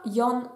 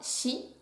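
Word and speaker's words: 四: On continue avec le kanji du chiffre 4 qui peut se prononcer soit yon, soit shi et dont la forme n'est rien de plus qu'un carré.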